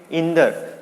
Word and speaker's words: इंद्र: और भी अगर हम उदाहरण देखें, इंद्र को क्या बोलेंगे, इंदर। क्या बोलेंगे, इंदर।